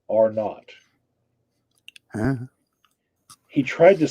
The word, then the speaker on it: R naught: So it's R naught, right? It's an R followed by a 0, R naught.